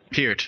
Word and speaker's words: Peart: people in comas okay here's not hurt you got to pronounce with the long e sound peered sorry yeah we know